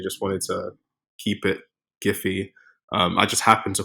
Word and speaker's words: Giphy: pronunciation I think the they sort of settled on the hard G so the giphy as opposed to the jiffy um hilariously enough they